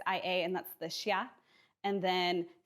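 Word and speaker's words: Xia: Chin Dynasty and then for a x you're going to get a sha so the first dynasty is X I A and that's the Shia and then C is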